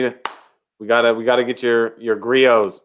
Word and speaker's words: Griot's: I think I know the T is silent.